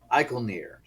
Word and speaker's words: Icolnir: were just about to face the trial of Icolnir. Icolnir. I forgot how to say it. Yes. Not Donathier, like I mispronounced the name, but Icolnir.